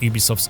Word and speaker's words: Ubisoft: shadows of both breath of the wild and ubisoft's own stable of open world titles to carve